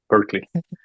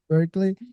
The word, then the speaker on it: Berkeley: corregir la pronunciación, no hay ningún problema, ¿viste? No lo dijiste muy bien, Berkeley. Berkeley.